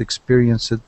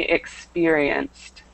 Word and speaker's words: experienced: And the next one, this word, remember that ed ending can be kind of confusing, but it should be experienced. Experienced. Experienced. With T. Great, with the T sound at the end.